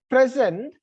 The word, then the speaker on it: present: So when I stress the first syllable, then those words function as a noun. When I shifted the stress from first syllable to second syllable, it functions as an adjective or an adverb or a verb.